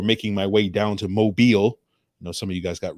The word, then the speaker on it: Mobile: the weekend before making my way down to Mobile. Some of you guys got real mad because I kept calling it Mobile.